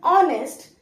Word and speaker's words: honest: honest but pronounced as honest so it is something to do with the sound that honest starts with it is pronounced with the sound of O not with the sound of H therefore it will be